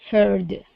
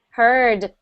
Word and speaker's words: heard: Heard. Heard. Good. Good. A very common, I guess, pronunciation mistake with that word is we only hear her.